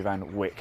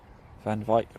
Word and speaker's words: van Wyk: member of jamie van i've been calling jamie van wick i believe i'm saying it wrong so thank you claudia jamie van wyk mike is that right claudia can you comment but i'm saying that right jamie van wyk van wyk van vike van wyk fun fake